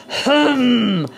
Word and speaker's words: Hum: Hum. Yes, we're doing the lion breath. Hum. The tongue comes out. Hum. As you repeat H-U-M, the paws flare up, the hands flare up. Hum.